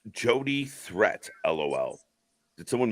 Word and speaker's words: Jody Threat: It's pronounced Jody Threat, LOL.